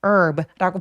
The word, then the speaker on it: herb: H 없이 herb라고 발음합니다. 그래서 요거는 무음이에요.